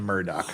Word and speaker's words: Murdaugh: Margaret branstadter Murdock okay so he pronounced his own name Murdock I guess we're calling him Murdoch from now on how you doing what's